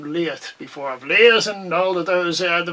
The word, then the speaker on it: Liath: I've Leahs and all of those, the various... It's actually, you're not supposed to pronounce the TH. You know, Leah.